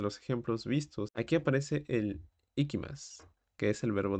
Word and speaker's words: へ: ejemplos que circulan en ese tipo de contenido pero el significado es prácticamente ese regresar y luego tenemos la partícula e que tiene algo muy curioso que justamente se pronuncia e pero se utiliza el